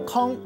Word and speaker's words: 悾: 今仔日要来甲大家小看一字，咱做伙来看到这字读作空。